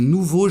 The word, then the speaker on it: nouveaux: La même chose, le pluriel de l'adjectif nouveau prend un X qui ne se prononce pas, donc des nouveaux jardins.